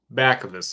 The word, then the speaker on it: Bacavis: say your last name I have heard it pronounced many of different ways uh bavis bavis back ofus is great okay that's how I